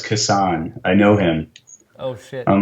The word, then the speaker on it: Kassan: to her and like oh I think it's casting and she goes no no it's kisan I know him oh I'm like oh I'm